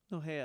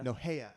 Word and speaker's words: Nohea: is it pronounced Nohea? No, hey. Nohea. I always get it wrong.